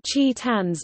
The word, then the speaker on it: Chi-Tan: a pun on titanium, as in Japan, it is cute to replace CH sounds with T sounds, thus making Chi Tan's name pronounced similarly to Titan in Japanese.